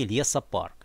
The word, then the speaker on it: лесопарк: не парк а классически лесопарк именно лесопарк с ударением все-таки на слове лес тоже на самом деле